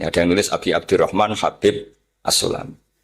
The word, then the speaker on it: Habib: Ada yang nulis Abi Abdurrahman Habib Asulami. Itu di harakatnya kitab itu ada yang nulis khubab. L yang benar. Oh nggih. Yang benar itu bacanya habib. Habib itu sulami itu ikut marga Rabiah itu.